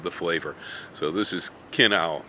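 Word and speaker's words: Kinnow: flavor so this is Kino spelled like minow with a k k i n n o w man oh man is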